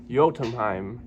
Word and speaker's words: Jötunheim: But from what I can gather online, this is pronounced Jötunheim, which is an Old Norse for giant land.